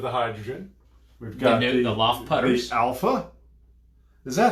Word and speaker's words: Loft: it is it's a it's a danish company so they probably pronounce it luft but this is your